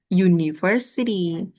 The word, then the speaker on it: university: Walaupun tulisannya depannya U vokal tapi ketika dibaca university depannya jadi Y.